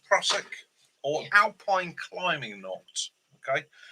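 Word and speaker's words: Prusik: Prosic knot, pronounced Prosic, or alpine climbing knot.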